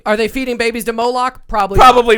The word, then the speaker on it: Moloch: Moloch.